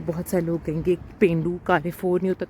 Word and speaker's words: Carrefour: Basically Italian में हर लफ्ज़ का साउंड अदा किया जाता है सिवाय उनके जो साइलेंट हैं, तो ई जो है उसका साउंड ए में प्रोनाउंस होता है, सो इट्स Carrefour for that reason.